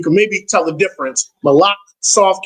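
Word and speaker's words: מלאך: And then malach, really with the cha, malach is M-A-L-A-C-H. Malach. There's a cha at the end. Malach. So you can maybe tell the difference. Malach, soft K, malach.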